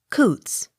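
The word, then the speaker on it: Coutts: m cunningham c o u t t s coots c o w p e r cooper d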